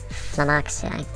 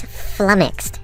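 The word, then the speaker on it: flummoxed: I was apparently mispronouncing that, butchering it actually. Uh, the word is flumixed and it means to be confused.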